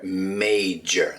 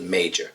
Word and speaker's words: major: The word is major. Okay, so be very careful with the pronunciation, not major, that J in the middle, major.